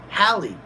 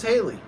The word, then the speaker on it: Hallie: Not really relevant, but by the way, my name is pronounced Haley. Oh, Hallie. Oh, really? Sorry about that, Hallie. I thought it was Haley. But there's no I, so why the heck would it be Haley? Hallie, duh.